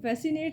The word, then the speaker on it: fascinate: And fascinate silent letter is C.